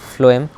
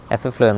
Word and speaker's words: phloem: আর ফ্লোয়েম, এফ এ food, F এ ফ্লোয়েম না, sorry, P দিয়ে ফ্লোয়েম, বাট উচ্চারণটা এফ এর মতো, ফ এর মতো।